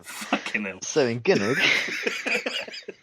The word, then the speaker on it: Gynoug: It's pronounced Gynoug.